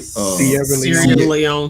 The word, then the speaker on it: Sierra Leone: This year was also in Sierra Leone. Did I pronounce that right? Sierra Leone.